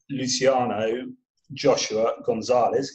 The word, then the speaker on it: Luciano Joshua Gonzales: So tonight I am going to speak to Luciano Joshua Gonzales, if I have that correct. Did I pronounce that correctly?